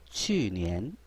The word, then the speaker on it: 去年: 去年 이렇게 읽어야 되는데 추라고 읽으면 안 되겠죠.